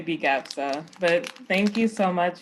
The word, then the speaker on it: BGAPSA: We just say BGAPSA, but thank you so much for this.